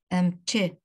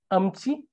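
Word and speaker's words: ཨེམ་ཆི: So it's amchi. The pronunciation is amchi. So amchi is just an influence by the original dialect.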